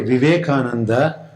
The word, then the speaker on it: Vivekananda: come across the terms in bengali language the v becomes b they don't pronounce v